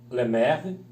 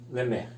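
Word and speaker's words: לֶמֶךְ: Lameque, né, que quer dizer, ou é pronunciado Lemer, Lamed com E, Men com E e o Kaf Sofit com Shevá, Lemer.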